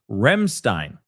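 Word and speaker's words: Ramstein: It's It's pronounced Remstein.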